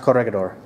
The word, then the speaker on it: Corregidor: pronounced Corregidor.